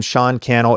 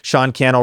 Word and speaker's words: Sean Cannell: And then other than that, I'm Sean Kel everywhere. Sean Kel rhymes with YouTube channel, Instagram, Facebook, wherever you like to be.